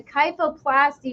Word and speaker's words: kyphoplasty: work with spines, but is it kyphoplasty? Is that how you say it? Kyphoplasty, yes.